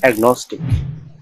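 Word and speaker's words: agnostic: কেএন বা জিএন এর আগে ভাওয়াল থাকলে কেওজি উচ্চারিত হয়। যেমন অ্যাগনস্টিক, অ্যাগনস্টিক EGNOSTIC, অ্যাগনস্টিক মানে অজ্ঞেয়।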